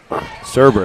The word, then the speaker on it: Serber: That's Serber. Oh, no. Is that how you say it? Yep. Serber, that's right.